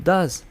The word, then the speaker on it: does: le agrego es y lo pronuncio does no de otras maneras creativas y así puedo decir